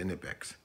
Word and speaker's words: Knipex: I'm gonna say Knipex because I was a viewer of mine told me that I was the kids is silent.